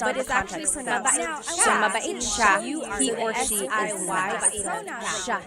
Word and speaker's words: siya: And then you're talking about mabait siya, he or she, mabait siya.